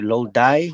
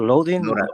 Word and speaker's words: Lodi: And then other place that I've gone to some sessions in how do you say Lodi, New Jersey, or Loden? Loda, yeah.